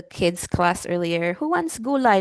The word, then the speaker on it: gulay: It's not gulay. It's gu gulay.